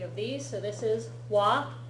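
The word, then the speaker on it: は: this is particle W it spelled with a ha symbol but when it's used as a particle it gets pronounced as W and this particle is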